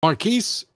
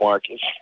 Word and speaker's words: Marquis: marquis in north carolina am i pronouncing that correctly yeah you are pronouncing it correctly oddly enough nobody ever gets it so i just usually accept marcus i i i knew somebody else named marquis